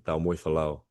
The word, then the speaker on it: Taumoefolau: It's Taumoefolau. There you go. Much nicely pronounced, that's for sure.